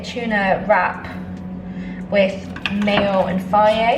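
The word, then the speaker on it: Fage: Basically a tuna wrap with mayo and faye. I think that's how you pronounce it. Yeah, faye, that's the first time I ever pronounced it. It's spelled with G, so I always pronounce it wrong.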